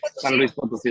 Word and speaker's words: San Luis Potosí: San Luis Potosí, that's correct.